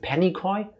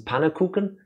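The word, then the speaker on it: Pannenkoek: forgot the username uh I think they pronounce it Penny coy but really it's panakuken it's technically a Dutch word um I think that's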